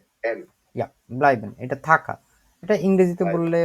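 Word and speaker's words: bleiben: যে এইটা আছে এই শব্দটাকে বলা হয় হচ্ছে ব্লাইবেন ব্লাইবেন উচ্চারণ করেন তো ব্লাইবেন ব্লাইবেন ইয়া বুকটা বিবরণ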